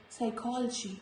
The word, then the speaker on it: psychology: The rule is letter P is usually silent when it comes before S, T and N. Before S in the words like psychology. This is not for psychology. This is psychology.